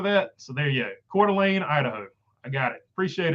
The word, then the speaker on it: Coeur d'Alene: The town in Idaho is pronounced Coeur d'Alene. So there we go. Coeur d'Alene. I'm going to try to remember that. So there you go. Coeur d'Alene, Idaho.